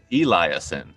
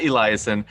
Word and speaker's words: Eliason: name is nat eliason eliason right marissa that's how you say it not eliasen and he is known for